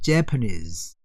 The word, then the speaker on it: Japanese: 그러면은 Japanese, 일본 사람들은 앞에 있어요. Japanese.